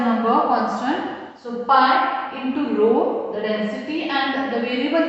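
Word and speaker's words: rho: representation for what density it is pronounced as a row spelling is Rh row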